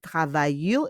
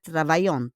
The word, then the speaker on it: travaillent: But we pronounce it travaillent. It's not travaillante.